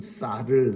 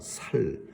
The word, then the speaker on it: 쌀: 그래서 경상도 사람들은 쌀을 살이라고 합니다. 살.